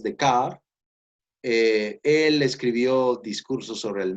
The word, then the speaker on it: Descartes: Voy a terminar con este filósofo francés del siglo XVII, un filósofo rebelde como ustedes, llamado René Descartes, se pronuncia en francés Descartes.